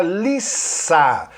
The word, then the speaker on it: Lisa: E a personagem que conversa com ele é a Lisa. Reparem, a pronúncia desse nome próprio é Lisa. Quando é Liza, é escrito com Z. Quando é escrito com S, é Lisa, ok?